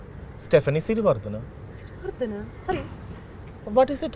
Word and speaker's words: Stephanie Siriwardhana: On that note, with some wise words coming our way from the wonderful Stephanie Siri, can you pronounce my name correctly? Stephanie Sartana.